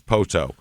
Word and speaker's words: Poteau: And, man, it was an interesting one trying to find the pronunciation on this town. Poteau is Poteau.